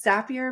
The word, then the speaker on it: Zapier: It's Zapier makes you happier. That's a good way to remember it.